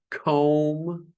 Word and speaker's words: comb: Comb, no B.